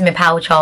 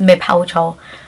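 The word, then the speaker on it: me pa wo kyɛw: Please is me pal chow. I need the accent. Me pal. Wo. Chow. It's kind of like pal chow. I'm begging you, like, please, me pal chow.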